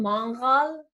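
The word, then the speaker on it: mangal: open fire okay and it's called it's called mongol but if you spell it and yeah well we say you could in english i guess mongol like m-a-g m-a-n-g-a-l we have that in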